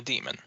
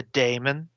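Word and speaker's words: daemon: looks like it yep it is in fact a demon I'll have you no sir it's a Damon Damon yes yes sorry pronounced 40K yeah that's the one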